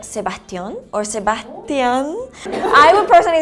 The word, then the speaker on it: Sebastián: In Mexico, we would say Sebastián. Again, like the A has this tilde thing, so you make an emphasis in the last syllable, Sebastián.